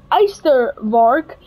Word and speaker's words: Ystervark: So, for the Eystervark, how you would actually pronounce that is Eystervark. Now, Eystervark is, Eyster is iron in English, and vark is pig in Afrikaans, and then so bos